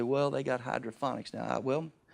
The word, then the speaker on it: hydroponics: You say, well, they got hydroponics now. Hydroponics, not phonics, ponics. Get that right phonetically.